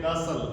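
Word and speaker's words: castle: एक होता है सी ए एस टी एल ई। इसको लोग कैस्टल बोलते हैं। उसको बोलते हैं कासल।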